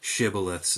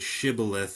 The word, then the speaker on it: Shibboleth: No, it's the name of a river, and there was one, and one group of people pronounced it Shibboleth, and the other Sibboleth.